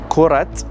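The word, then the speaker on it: كرة: So when it's only ball by itself, kura, we don't pronounce the ta marbuta at the end, the T at the end.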